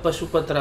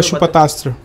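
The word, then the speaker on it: पाशुपतास्त्र: उसमें से एक यूज़ था पशुपत्रा का। हम तो वो उसके बारे में पशुपतस्त्र पशुपतस्त्र सॉरी मेरा प्रोनाउंसिएशन गलत हुआ।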